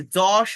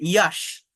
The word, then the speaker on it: যশ: নায়ক আছে এই বাংলায়, এটাকে কেউ বলে ইয়াশ, আবার কেউ বলে যশ। এটা কেন হয়? এটা হচ্ছে যদি আপনি কারেক্ট আইপিএ মেনটেন করেন, উচ্চারণটা মূলত ইউ, বাট আইপিএ মেনটেন করে কথা বললে, আইপি এর যে সিম্বল সেটা অনুযায়ী কথা বললে আমার মূলত জ উচ্চারণ করতে হয়।